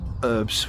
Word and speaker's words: herbs: pronunciation of herbs that's herbs with an h and not the American herbs which always sounds a bit weird I don't make the